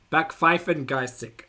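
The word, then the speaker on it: Backpfeifengesicht: Back Pfeifen Gesicht.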